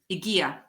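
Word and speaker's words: Hygieia: Igia. Agia.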